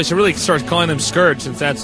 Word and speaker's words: Scourge: Note that we can see Dragoon is using the Scourge, although I should really start calling them Scourge, since that's how you pronounce it.